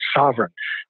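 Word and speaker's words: Sovrin: called it's something called sovereign and sovereign is spelled a little funny sov rin but that to me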